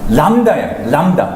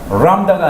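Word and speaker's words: לָמֶד: 이거는 L보다도 더 강해요. 그러니까 람다예요. 람다가 아니라 람다.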